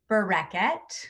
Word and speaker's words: Bareket: I'm on like a kick, so I'm gonna correct you in the pronunciation of my name. Please. It's Barraquette.